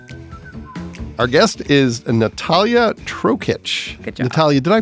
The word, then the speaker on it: Natalija: we hit record that you have a letter in your first name that isn't pronounced there's a J in there but it's Natalia and then you have